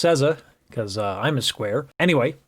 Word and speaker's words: SZA: i was asked to do a couple more cesar reacts i uh i just found out that it's pronounced sesa because i'm a square anyway uh yeah let's